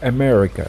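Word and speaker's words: أمريكا: vowel same as in the word america if you see here the first a it's a america however the last one is america so this is exactly how it's written in arabi the first one with alif and hamza and the last one no hamza because it's just a long vowel all what i care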